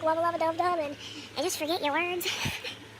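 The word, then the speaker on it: Wubba Lubba Dub Dub: I also keep saying rubba-lubba-dub-dub. I've also been saying it wrong a few times and messing up, but wubba-lubba-dub-dub.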